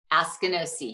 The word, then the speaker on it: Askinosie: Askinosie, is that pronounced correctly? Askinosie, yes.